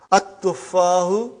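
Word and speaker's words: التفاح: But now your mind knows that that is a sun letter, so you will pronounce as at-tuffahu. You will put a shadda anta.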